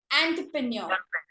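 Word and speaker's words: entrepreneur: एंटरप्रेन्योर गलत word है, ई नहीं आता, इसको हम एग्जैक्टली बोलते हैं एंटरप्रेन्योर। ई नहीं आता, आई एम रिपीटिंग अगेन, ई की जगह इसको ओ काउंट करना, लिखते ई है लेकिन होता ओ काउंट है, एंटरप्रेन्योर, एंटरप्रेन्योर, ओके।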